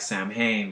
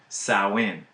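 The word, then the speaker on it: Samhain: it's you know it's it looks like Sam Hayne but it's pronounced sauwin so this holiday that was practiced by the cells was called Sawan and it was meant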